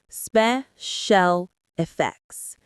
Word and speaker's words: special effects: The stress is on spe and special and effects and effects. Say it with me, special effects.